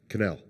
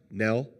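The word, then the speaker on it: Knell: oh here we go canel right did I say it right Nell K is silent okay anyway he's a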